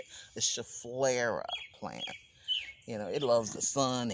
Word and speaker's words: Schefflera: So my Schefflera, that's how you say it, the Schefflera plant.